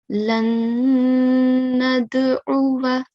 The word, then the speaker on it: لن ندعو: on this word, okay, if you were to pause on this word, then the last mutaharrik letter, which is waw, will change into a sakin letter. It will change from a mutaharrik into a sakin. So we'll recite it as lan nad'u.